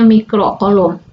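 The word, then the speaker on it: mikrocoulomb: sejuta mic kolom ini ditulisnya seperti ini dibacanya mikrokolom 1 mikro Coulomb 1/1000000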